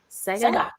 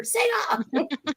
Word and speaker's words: Sega: Say it right. Sega. Right. You have to go Sega. Right. Give myself a seizure. Sega. That's better. That's better.